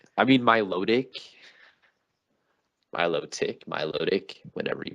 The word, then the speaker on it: Milotic: I mean, Milotic, whatever you pronounce it as. Milotic? What the freak? Milotic. My load. Ick. Some people pronounce it without the T.